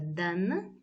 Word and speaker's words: дан: языке это глагол Да как видите пишется Дан в конце но читается Да дело в том что в чеченском языке есть правило все слова состоящие из одного услуга они пишутся с N в конце но это не читается за исключением нескольких слов так смотрите глагол до